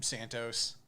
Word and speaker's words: Santo: the other gun from santos now the writers are backing santos santo vega i keep thinking santos escobar it's really it's pronounced santo but whatever either way it